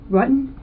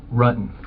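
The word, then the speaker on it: Ruetten: John Rutten? Rutan. The investigators already knew how to say John Rutten's name correctly.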